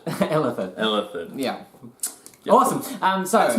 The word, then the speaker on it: Illithid: It's basically the city of the Ithilid. Illithid. Yeah. Yep. Awesome. So That's my thing. My thing is mispronouncing words.